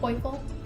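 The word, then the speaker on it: Poifull: I think I would pronounce this as poiful, like playful, poiful.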